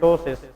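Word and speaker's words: ptosis: the condition is called टसिस इसको क्या कहते हैं टसिस लेकिन इसमें पी साइलेंट होता है लेकिन the spelling is पी टी ओ एस आई एस टसिस P silent है लेकिन लिखना जरूर है टसिस इज अ कंडीशन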